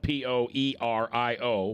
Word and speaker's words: Poerio: uh poer EO is our guest now that's spelled p o e r i o but it's pronounced poerio uh shell is her